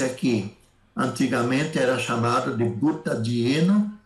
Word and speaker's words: butadieno: Então, esse butadieno, se eu falar butdieno, aí então dificulta a pronúncia.